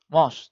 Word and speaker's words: mouse: Ingat, MOS jangan ditulis MOS. Ada ejaan sendiri. M, O, O, S, E. Nah, MOS. MOS berarti membacanya gimana, Pak? MOS. M, M, O, US. MOS. Nah, bacanya gitu. Maaf, kok angka 5 ya. Nah, mouse, dibaca mouse.